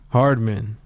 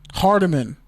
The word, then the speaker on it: Hardman: How do you say his name? McCole Hardman. Hardman. Hardeman. Hardeman. Like Kadeem. Never mind.